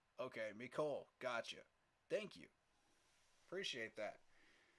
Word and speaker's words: Mecole: Hardman has enough speed to take the top off the defense, and I believe it's pronounced Mecole. Okay, Mecole.